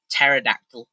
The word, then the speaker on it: pterodactyl: Like pterodactyl P. There's a silent P in it.